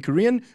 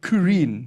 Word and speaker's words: Kurien: And joining us as a guest in the show today is Toby Kurien. Yes. Am I saying it right? Kurien, yes.